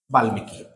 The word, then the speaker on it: বাল্মীকি: যেমন বাল্মীকি, লর সঙ্গে ম আছে, তাহলে মটা উচ্চারণ করতে হবে।